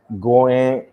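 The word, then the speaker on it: 五円: And then the reason why most people may throw a 50 yen coin or 5 yen coin because 5 yen is pronounced as goen, and then a 50 yen coin is pronounced as gojuan.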